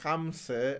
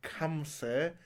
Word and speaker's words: Hamse: When Western people, when French people learn that my name is Hamse and not Kamse, I will learn their fucking language.